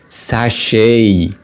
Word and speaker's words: sachet: however in British English we use the word sash to mean that in American English so sachet